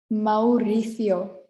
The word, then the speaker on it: Mauricio: uganda we have mauritius mauricio so here we have two vowels next to each other so we are going to pronounce them separately so it sounds like